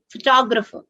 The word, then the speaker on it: photographer: may i photograph you my brother is photographer a larger circle on second syllable so that will help